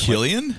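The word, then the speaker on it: Cillian: out that yet another person whose name we mispronounce is also being considered Killian Murphy which we've always called San yeah but it's Killian it's like Celtic yeah not Celtic okay the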